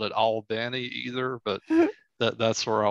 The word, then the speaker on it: Albany: Albany. Oh, okay. So it's, I say Albany. Me too. Okay, it some people say Albany though, right? I don't like that. And I've never said it that way.